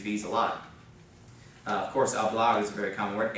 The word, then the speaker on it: hablar: The first one is hablar. Of course, the H is not pronounced.